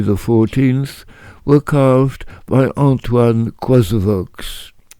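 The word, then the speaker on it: Coysevox: Mercury riding Pegasus, the winged horse, and Renown or Fame riding Pegasus, both glorifying Louis XIV, were carved by Antoine Coisevaux. Some people pronounce Coisevaux.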